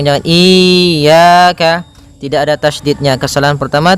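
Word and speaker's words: إِيَّاكَ: Iyyaka pada lafal ya, ini hati-hati dalam pelafalannya, ada 2 kesalahan yang sering terjadi. Yang pertama yaitu dia memanjangkan iya. Nah, seperti itu. Harusnya dia ditekan dan dilembutkan, iyyaka, iyyaka. Nah, kemudian jangan sampai dibaca panjang, jangan iyyaka, tidak ada tasydidnya.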